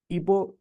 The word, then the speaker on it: epoch: दूसरा वाला आपका क्या युग होता है, इसको इंग्लिश में ईपो करके प्रोनाउंस किया जाता है, EPOCH।